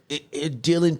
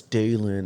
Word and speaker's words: Dalen: Most of my life I went through trying to explain that, in school, Dylan piece here. And I'm like, it's Dalen.